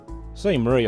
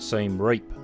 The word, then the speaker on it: Siem Reap: check out the scenery see Murray I think that's the pronunciation most Westerners call it seen reap the see Murray the locals from what I heard see Murray anyway go and check